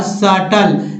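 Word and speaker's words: subtle: और सटल, यानी बी को नहीं पढ़ना है तो सटल पढ़ेंगे, यानी हल्का।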